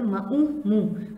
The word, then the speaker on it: मुँह: आपा ने अपने, मुँह, यहाँ पर हम नून की आवाज़ नहीं निकालते हैं, यहाँ पर नून जो है वो थोड़ा सा नाराज़ हो जाता है, साइलेंट होता है, इसलिए वो आवाज़ नहीं निकालेगा। मुँह हम सिर्फ मीम को हे के साथ जोड़ देंगे, मीम नून है मुँह।